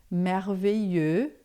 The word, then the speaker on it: merveilleux: E aí em francês a gente vai falar merveilleux, tá? Se for feminino, merveilleuse, e se for masculino, merveilleux. Esse X aqui a gente não pronuncia.